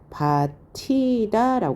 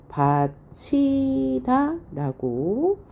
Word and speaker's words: 밭이다: 표시는 발음하는 표시입니다 그런데 여기서는 이렇게 발음하지 않고요 바치다 변동한 다음에 바치다 최종 발음합니다 그러니까 의문의 환경에 따라서